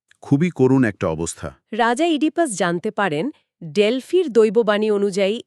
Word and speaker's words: Oedipus: নামের উচ্চারণটা অনেকেই ওইডি পাস করে থাকেন। কিন্তু আসলে এটি হবে ইডিপাস।